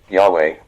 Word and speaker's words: Yahweh: Yahweh, name for the God of the Israelites, representing the biblical pronunciation Od Yahweh, the Hebrew name revealed to Moses in the book of Exodus.